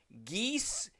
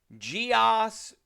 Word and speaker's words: geas: talking about the spell geese guos gios Gees however you want to say it it's spelled g a